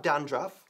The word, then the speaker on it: dandruff: Bajando un poco la mandíbula. Bien, he was trying to make a good impression. So if you have dandruff and you want to